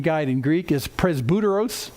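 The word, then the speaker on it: πρεσβύτερος: guide in greek is presbyteros presbuteros and if that sounds like presbytery you're right because that's where the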